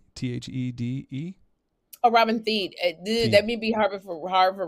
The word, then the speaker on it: Thede: I'm going to say the name wrong. Thede? Thede? Oh, Robin Thede.